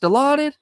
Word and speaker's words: Dilaudid: Is that what it's pronounced? Dilaudid?